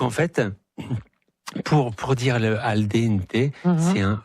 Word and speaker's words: al dente: Et en fait, toutes les lettres se prononcent. Donc en fait. Pour dire le al dente, c'est un E, et il y a une différence entre le an et le n.